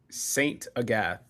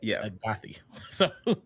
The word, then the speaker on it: Saint Agathe: Saint Agathe. Saint Agathe. Cuz I was going to say Agathy.